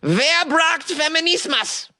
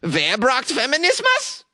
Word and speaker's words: Wer braucht Feminismus: Wer braucht Feminismus? It translates to, who needs feminism? Oh, I should say it like a question then. Hold on, let me try again. Wer braucht Feminismus?